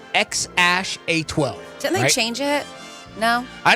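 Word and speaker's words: X Æ A-12: way it is here it's pronounced X Ash a12 didn't they change it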